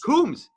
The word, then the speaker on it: Coombes: Coombes. Rhymes with brooms.